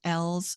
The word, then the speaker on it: Ells: I would recommend to your listeners to get Kimberly L's book. ELLS is how you pronounce her last name.